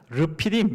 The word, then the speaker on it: 르비딤: 발음대로 하면 르피딤 이렇게 되어 있습니다.